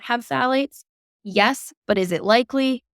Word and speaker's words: phthalates: group of chemicals called phthalates. It's spelled very weird. It's PHTHALATES, phthalates. Nice.